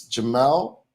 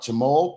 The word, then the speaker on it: Jamal: It's Jamal, not Jamal, pronounced Mal, not Mol.